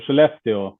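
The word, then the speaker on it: Skellefteå: in uh I'm sorry the pronunciation for this town SK skele Sweden yeah it's Shalo Shalo it's like she left you okay that's that's a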